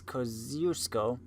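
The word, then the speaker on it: Kościuszko: scope for in 1746 more commonly known as Thaddeus code usko and even more commonly mispronounced Thank You Shawn this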